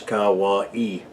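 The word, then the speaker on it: Kauaʻi: primarily anahulu and Hawaii that spelled ka ua i and pronounce Kawa e now the anahulu valley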